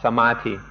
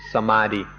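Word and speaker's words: samādhi: And so now we'll talk in some detail about samati. Thai pronunciation is samati and often you'll hear foreigners pronounce it samadei.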